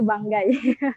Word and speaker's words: Banggai: Bukan Banggai ya, bacanya Banggai.